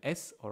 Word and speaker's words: ça: Okay, normally in French, C-A is pronounced K. All right, but in some context, we want it to sound it like S. Okay, we want the C to sound like S, like an S. All right, but we don't want to turn it into a S. We want to keep it as a C. So we just put this thing below, and suddenly it's pronounced sa.